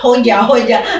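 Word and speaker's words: hoca: Hoja huruf C dibacanya J gitu kan?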